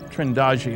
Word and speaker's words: Trindade: the picture and here's a sequence from trindad trendi I'm told it's pronounced 600 Mi east of the coast of